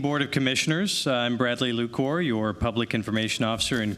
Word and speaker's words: Lacour: Bradley Lacour. Hello, thank you. And uh spot-on on the pronunciation of my last name. Thank you. Good evening, Board of Commissioners. I'm Bradley Lacour, your public information officer and communications manager.